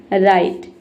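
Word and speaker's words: write: पहला वर्ड है हमारा राइट। राइट मतलब होता है लिखना। अब देखिए राइट में क्या है? डब्ल्यू के बाद आर लेटर आया है। इसलिए यहां पे डब्ल्यू साइलेंट है।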